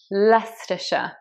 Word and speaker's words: Leicestershire: Basically, that is not said shire, it's Leicestershire. But coming back to Leicester, it's just said Leicester.